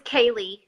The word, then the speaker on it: K'Leigh: do you say your last name seriously it's Kaylee thirsty honey ha seriously yeah okay Hale if